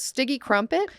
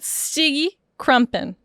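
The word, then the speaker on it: Stygge Krumpen: His name was Stige Crumpet? Stige Crump. How do you say that? Stige Krumpen.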